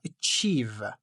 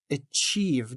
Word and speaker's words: achieve: You can use pronunciations or as you see uh achieve achieve the esters is on the second part.